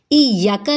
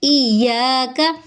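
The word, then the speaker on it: إياك: इयाका नहीं बल्कि इयाका।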